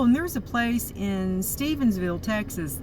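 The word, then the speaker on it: Stephenville: there's a place in stevensville texas that's not stephen because i say it wrong because i got this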